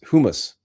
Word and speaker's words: humus: Yeah, I just didn't want to spell it the Persian Arabic way, because it's hummus, not in Latin. It's humus.